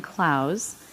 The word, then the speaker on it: Clowes: sure you know and are here because Dan Clowes and that is the correct pronunciation is one of the most celebrated graphic